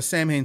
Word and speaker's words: Samhain: not the scent uh Samhain stuff specifically Danzig that first album maybe two it's not supposed to be pronounced Sam Hayne by the way silent